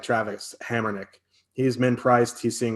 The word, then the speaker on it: Hamonic: your defenseman you like, I also like Travis Hamrnick. He's min priced. He's seeing a ton of minutes. So if you have to punt, I don't mind him as well. Yeah, Hamonic.